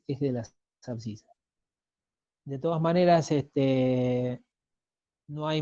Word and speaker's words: abscisas: Después, ahí en el título dice sistema de abscisas. Recuerden, por si no lo sabían, o si se lo olvidaron, o nunca lo habían escuchado, que las abscisas, así se escribe y se pronuncia, es el eje de las X.